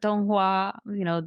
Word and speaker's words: Donghua: I saw them, but Donghua, basically the animated equivalent.